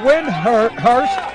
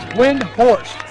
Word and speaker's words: Windhorst: Stepping into the box for the Fannin Rebels, we got number 3, Noah Windhurst. Is that how you pronounce it? Windhorst.